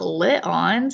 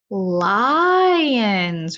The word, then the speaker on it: lion: is that right no it's not lit lines it's not a short I is it what kind of eye isn't that word what roars lion's roar yes lion so in that word it's a long I lie you hear the